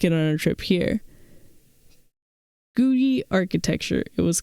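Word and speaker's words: Googie: I also don't know how to pronounce that. Is that Googy or Guji?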